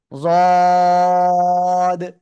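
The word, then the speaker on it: ض: ওকে, আর এই যে জদ অক্ষরটা, এই জদ অক্ষরটা কিন্তু মোটা আওয়াজে উচ্চারণ করতে হবে, একেবারে মোটা, কোনো চিকুন না কিন্তু। জদ, মোটা, যদি চিকুন আওয়াজ হয়ে যায় তাহলে কিন্তু সমস্যা।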